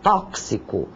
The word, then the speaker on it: tóxico: e tantos outros tóxico uma palavra que muita gente pronuncia de forma errônea é com x e soa como um KS tóxico maxilar o sório que nós